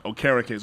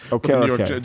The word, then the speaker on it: Okereke: I looked up the pronunciation. Okereke. So Bobby Okereke. Okereke.